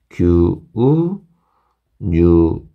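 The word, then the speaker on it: 牛乳: 사마스 그죠 규 마찬가지죠 규 장음 진짜 많이 나온다 이것도 여러분들이 발음 하실 때 규우 뉴우 그렇죠 규뉴 야 팡 빵이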